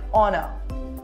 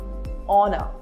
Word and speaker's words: honour: Honest, are, honor. Letter H is silent in all these words.